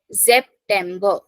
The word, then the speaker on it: September: Then der September, starting from S pronunciation Z. September.